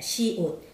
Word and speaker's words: 시옷: 시옷. 시옷이 아니고 시옷. 시옷, 우리가 옷 입는다 할때이 옷이에요. 시옷.